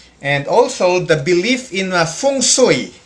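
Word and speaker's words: feng shui: also the belief in fung soi it's pronounced as fung sui it's a complex belief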